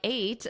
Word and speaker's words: ate: Now, I put just the number 8 because that's exactly how you pronounce it. This 8, yesterday I ate, that is the same as the number 8.